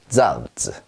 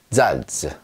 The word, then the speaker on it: Salz: 자, 어떻게 발음하냐면 쌍지 발음이 납니다. 우리말로 약간 세게 쯔 소리가 난다. 그래서요. 소금이라는 뜻이죠. 잔츠. 잔츠.